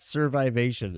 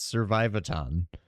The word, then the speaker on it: Survivaton: It's not Survivation. It's Survivaton. Well, I read what I wrote, so I pronounced.